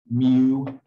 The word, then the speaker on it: mu: and there's even another greek letter that one's pronounced mu now and again your first thought should be